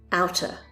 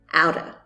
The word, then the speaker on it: out of: out of the blue it's also very common to hear the T in the word out pronounced as a D out of repeat out